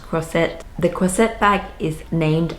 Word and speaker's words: Croisette: I kind of want to say croissant, but I think it's pronounced Croisette.